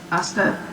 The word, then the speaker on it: hasta: Hasta, you don't pronounce the H?